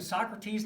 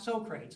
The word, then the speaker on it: Socrates: so prates has named Socrates not Sokrates if you pronounce it Sokrates do not tell them you took RCA at Saint Barnabas tell them II took it at st.